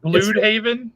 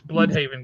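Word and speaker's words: Blüdhaven: It It's Yeah, Blue Haven. Very German sounding the way. Yeah, it's Blude Haven. And I was like, "No, no, no. It's Blood Haven, guys." Blood Haven.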